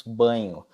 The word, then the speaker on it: Bagno: Mas não é com NH, se escreve com GN, Bagno, né? Na verdade a gente fala Marcos Banho, né?